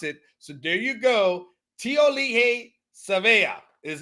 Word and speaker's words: Tiaoalii Savea: may we may need to learn how to pronounce it so there you go tiol Le SAA is how you go t sea uh will